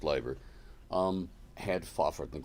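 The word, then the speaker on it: Leiber: The Inspirations Fritz Liber spelled Liber it's pronounced liver um had faford and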